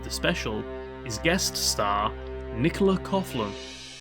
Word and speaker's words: Coughlan: The only other actor confirmed to be part of the special is guest star Nicola Coughlan. It's pronounced Coughlan.